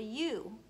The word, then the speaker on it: ewe: Her name is called a ewe. It's just like the letter U, but it's spelled E-W-E instead.